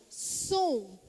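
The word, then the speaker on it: צום: então na língua hebraica a palavra jejum e pronunciada som repitam comigo som som você só aprenderam uma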